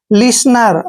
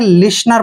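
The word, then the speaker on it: listener: टी एन ई आर जब भी एन से पहले टी आता है तो वहां पर टी साइलेंट होता है एल आई को हम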